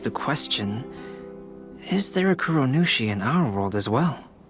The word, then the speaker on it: Kuronushi: Kuronushi?